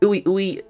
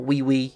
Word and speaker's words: Ui: Ui, or Wee, however you want to pronounce it, attempts to recover Kusakabe so he can be treated immediately away from the battlefield.